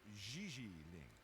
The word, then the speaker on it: JJ Ling: But what about JJ Ling? You mean Gigi Ling? Gigi? No, I mean JJ. Gigi. JJ. En français, you pronounce G like J and J like G.